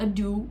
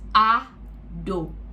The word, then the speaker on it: Ado: A-D-O, Ado. Ado, not Ado or Ada. It's Ado. So Ado. You guys address me as Ado because that's what I feel comfortable as.